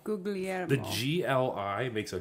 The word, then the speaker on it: Guglielmo: I say Gugliemo, but I'm incorrect when I say Guglielmo Okay. because it's Guglielmo according to the Italians. Gugliemo. Say that again. Guglielmo. Guglielmo.